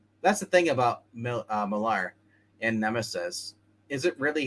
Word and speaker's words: Millar: done by another guy, by Miller that I like, but it's pronounced Millar.